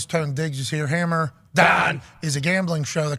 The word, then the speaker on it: Dahn: One half of the Hammer, Dahn. Cowboys, Stefan Diggs is here. Hammer, Dahn is a gambling show that comes out of